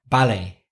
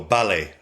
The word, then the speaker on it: ballet: We don't say ballet. Who am I trying to impress? I say ballet. Ballet, yeah. But Americans say ballet. And the Spanish would say ballet, wouldn't they? They pronounce the T at the Yes. end. Like we're a little more faithful to the original French, I think, with words and with et, like ballet.